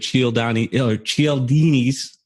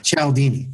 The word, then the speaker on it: Cialdini: I believe it's Cialdini. Cialdini. Only I saw Ken McCarthy actually phonetically write it out, or however you say it, write it out like, here's what it sounds like.